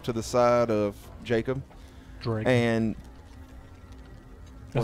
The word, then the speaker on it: Dreg: Take the G out. Put the D. Gred. Greg. Gred. Greg. DR. D-R-E-G.